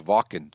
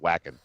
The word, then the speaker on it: Wacken: or higher you know I guess I've been mispronouncing it's walking correct that is walking fists up walking somebody